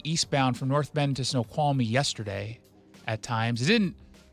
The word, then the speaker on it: Snoqualmie: I was like, let me get up here and see Snoqualmie, and then it's Snoqualmie, dummy. You had an extra syllable.